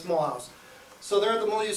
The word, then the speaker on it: Mulhouse: This is a huge train station, and we pronounce it in French Mulhouse, but it's Mulhouse.